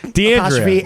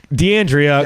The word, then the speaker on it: DeAndrea: emphasis on the wrong syllable. DeAndrea. Yeah, it's not that hard. DeAndrea.